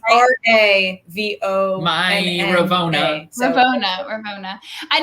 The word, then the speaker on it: Ravonna: So it's Ravona.